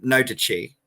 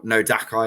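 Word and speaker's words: nodachi: but for so so i would call these weapons um no duchy or nodakai as i've heard some people pronounce them wrongly which is a type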